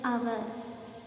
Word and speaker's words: hour: The word hour, H is silent here. So here, which sounds come? That vowel sound comes, hour.